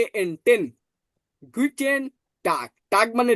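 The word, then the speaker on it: Guten Tag: তাহলে গি টি এন অর্থাৎ টে এন টেন গুটেন টাক টাক মানে ডি ঠিক আছে তাহলে গুটেন্ টাক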